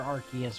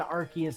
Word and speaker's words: Arceus: does Arceus do?